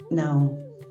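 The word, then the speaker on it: Nahom: No se escriben las vocales, pero la pronunciación es nao. La ubicación estos altares se encontraron en la región que ha llevado ese nombre por milenios.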